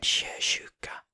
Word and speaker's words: sjösjuka: people don't produce like we say Sho not SH en sjösjuka Nat sjösjuka sjömän sjömän Säg SH att oke we would never pronounce It Like That sköttes av s